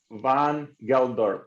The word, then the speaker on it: Van Geldorp: Hey guys, Alex Fedotoff here, and today we have Glenn, man, like your last name, so Van Geldorp, right? That's correct, man. That's how you say it in English.